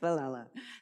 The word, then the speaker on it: Villela: I see a double L and I usually throw a Y in there, so Ms. Villela, thank you.